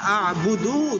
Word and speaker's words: أعبد: এই যে লা আ'বুদু, দু টান হবে না, লা আ'বুদু, কারণ আমরা জানি হরকতের لا উচ্চারণ أعبد. তাড়াতাড়ি পড়তে হয়, আমাদের এটা মনে রাখতে হবে।